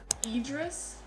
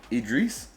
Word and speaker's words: Idris: names on the bottom idris idris or you could say idris i've actually heard her pronounce idris but i would pronounce idris you know i kind